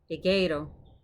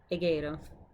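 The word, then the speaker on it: ἐγείρω: Egeiro, egeiro, egeiro. So smooth breathing mark on the front, so no hey, just egeiro, egeiro, which means I raise up.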